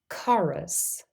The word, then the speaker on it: chorus: have a C Sound in words borrowed from Greek we also say the C Sound for C the spelling is usually c h in those words listen to these examples